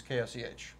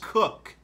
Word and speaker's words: Koch: and my last name is KOCH. And it's Cook. yeah. Cook. It's Cook. Yes. Pronounced Cook, people. It's not Coke, not Koch, not other things that you are thinking right now.